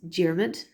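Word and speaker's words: Diarmuid: Ridgera of Ayr is Diarmid.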